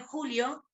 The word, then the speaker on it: joule: La unidad se llama joule. Yo le digo joule. No sé si la profe que da la teórica lo dijo de otra forma, se dice también julio, y se escribe joule.